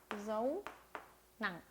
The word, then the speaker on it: dấu nặng: 자, 마지막 성조의 이름은 dấu nặng, thanh nặng. 네, 자, 읽어볼게요. dấu nặng, dấu nặng. 네, 성조의 모양이 알파벳 아래 점이 찍혀 있어요. 그래서 점 찍듯이 읽어주시면 됩니다.